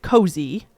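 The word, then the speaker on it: Koze: this brand called uh I think she she pronounced it cozy but it was spelled k-o-z-e okay and she had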